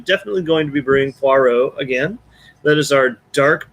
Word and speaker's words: Poirot: it's been patriot and it's been pot roast poi rot poi rot which that one that one okay